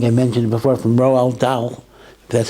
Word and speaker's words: Dahl: story I think I mentioned before from Roald Dahl that's how you pronounce it the d-a-h-l famous British writer I